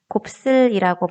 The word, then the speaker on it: 꼽슬: Even though the proper pronunciation is "Gobsseul," many people actually pronounce it as "Ggopsseul."